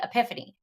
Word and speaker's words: Epiphany: comes a day called The Epiphany rhymes with Tiffany or three kings day